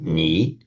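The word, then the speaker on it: 你: Now, if you pronounce, you would not say ni on its own. You'd say ni. It's a third tone word.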